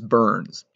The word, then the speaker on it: Byrnes: If you want to look this up, you need to look up a guy named James Burns. That's spelled Byrnes.